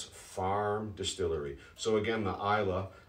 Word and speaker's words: Islay: natural color isla's farm distillery so again the isla spelled is lay but pronounced isla well known for their very smoky